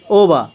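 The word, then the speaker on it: over: ওবা অর্থ ওপরে বা বেশি, ওবা অর্থ ওপরে বা বেশি। শব্দের শেষে আর থাকার কারণে আরের উচ্চারণ হবে না।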